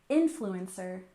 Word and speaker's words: influencer: and finally we have influencer with stress on the first syllable influencer influencer I'm sure you're familiar